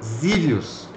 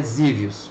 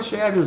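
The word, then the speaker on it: Xevious: Colúmbia essa se pronuncia zios então o X tem som de z né Eu vi um gringo pronunciando né então é zios mas a gente chama chevos mesmo Colúmbia né Como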